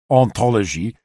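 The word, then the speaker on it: hantologie: Great play is made of the fact that his invented word hauntology, ontologie, sounds the same in French, which has a silent H here, as ontology, ontologie.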